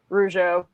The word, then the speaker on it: Rougeau: So we also have confirmation that your pronunciation, Rougeau, is a Rougeau is what.